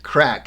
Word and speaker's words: craic: that sums up all those things i love crack and it's pronounced crack c-r-a-c-k and many a conversation in ireland starts